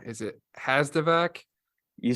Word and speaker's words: Hazdovac: you said it right I have a uh actually a little trick for remembering my last name my uncle used to say it so think about a vacuum cleaner the VAC okay you're looking for